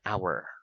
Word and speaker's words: hour: right to say an hour why why because the letter H in the word hour is silent silent very good okay